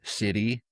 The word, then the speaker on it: sidhe: And again the Irish word is city is spelled s i d h e describing the